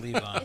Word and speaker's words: Levon: covering Levon, or how do you pronounce it, George? Levon? Levon. Leave on.